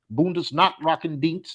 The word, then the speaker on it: Bundesnachrichtendienst: the equivalent of the German CIA, the BND, Bundesnachrichtendienst is how you pronounce it in Germany.